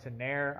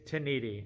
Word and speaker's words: Ténéré: the sport flanker out rolls this now I've pronounced this incorrectly in the past I've called it ire I've called it taner it's tenan and I've had to look up the phonetic